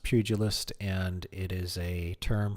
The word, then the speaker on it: pugilist: It is pronounced pugilist and it is a term for somebody who is a fighter as a profession.